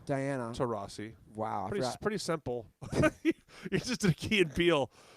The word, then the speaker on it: Taurasi: Diana Taurasi, is that pronounced correctly? It's actually Diana Taurasi.